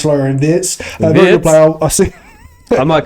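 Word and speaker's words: Florian Wirtz: So Florenz Florenz actually pronounced Florian Vietz player.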